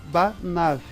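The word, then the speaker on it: בָּנָיו: Essa daqui não é a forma singular, né? é pronunciada banav.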